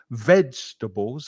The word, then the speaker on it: vegetables: Vegetables has the stress on the first syllable.